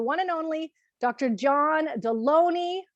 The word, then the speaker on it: Delony: John Delony, rhymes with baloney.